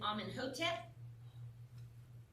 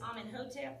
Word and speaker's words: Amenhotep: And then Amenhotep. We can take a break. Just saying, I'm answering questions, but y'all take your little break right here. And then it was Amenhotep, Amenhotep.